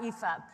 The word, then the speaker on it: Aoife: help anyone okay so if you think of FIFA the football and then take the F off you've got EAB so I'm an AI